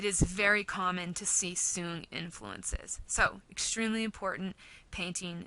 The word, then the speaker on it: Song: known as the song period it looks like song but it's pronounced soon this is the soon period and the reason why I want to